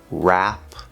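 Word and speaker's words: wrap: One is before the R sound at the start of a word or a syllable. For example, wrong, rap, right.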